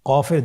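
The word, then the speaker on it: ق: কফের দুইটি নোক্তা।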